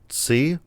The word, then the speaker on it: Tse: And then you got writers Jason Hall, Zach Balin, and Alex C. I think that's how you pronounce it. It's TSE. So I don't know. Maybe C something.